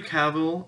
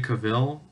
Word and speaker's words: Cavill: this uh I Henry Cavill or Henry Cavill I don't I never actually figured out how to pronounce his name but I'm gonna go with cavil and so that's how I usually hear it I do enjoy Henry